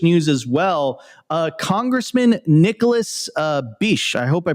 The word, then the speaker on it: Begich: Congressman Nicholas Begich, I hope I pronounced that correctly. Opti, is it Begich? It's Begich, bro.